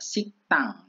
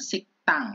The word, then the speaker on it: 식당: Lepsil samusil ya, siktang bacanya siktang, pakai kayak sang diget gitu ya, siktang.